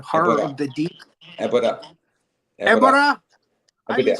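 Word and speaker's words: Ebirah: and she's also in the next Godzilla movie, which is Godzilla versus Abira, the sea monster. Abira, Horror Ebora. of the Deep. Ebora.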